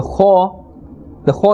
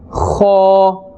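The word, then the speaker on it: خاء: letter comes from, the Kha is also part of the halqiyya letters, and it is pronounced from the top part of the throat. This will give you a scraping sound. Kha.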